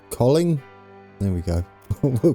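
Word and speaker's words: Kolding: Now, I've been told you don't pronounce the D, I think, in this. Colling?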